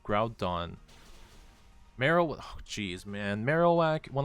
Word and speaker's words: Groudon: Rhydon rhymes with Groudon.